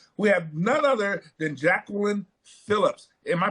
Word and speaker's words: Jacqueline Phillips: We have none other than Jacqueline Phillips. Am I pronouncing that right?